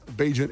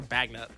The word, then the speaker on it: Bagent: Might see the Tyler Bagent era continue. Is it Bagent or Bagnet? It's pronounced Bagent.